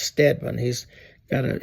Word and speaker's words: Steedman: a a uh General It's looks like uh Steedman, but it's pronounced Stedman.